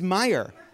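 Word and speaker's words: Meijer: Michigan Representative Peter how do you say, it's Meyer.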